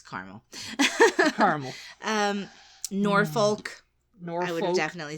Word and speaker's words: Norfolk: And I think we say Norfolk. Norfolk. I think we say folk. Folk?